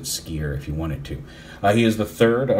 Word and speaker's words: Skyer: uh SK y r i guess you could pronounce it skier if you wanted to